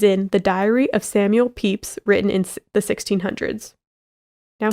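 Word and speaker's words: Pepys: the diary of samuel peeps written in the 1600s now his name is spelled p-e-p-y-s but this author says it's pronounced peeps believe it or not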